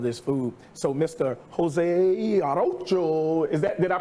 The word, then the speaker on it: Arocho: Jose Arocho, did I pronounce it correctly?